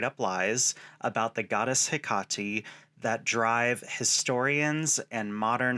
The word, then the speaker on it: Hekate: Yes, I said Hekate. Many say Hekate or Hekate. That is actually not one of the things I'm going to rant about today, as truly all of those pronunciations are correct in the native Greek.